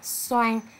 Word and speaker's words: xoan: lưu ý các bạn trong tiếng xoan có vần o a n o khi đọc các bạn nhớ chọn miệng để phát âm đúng vần oan nhé bây giờ cô mới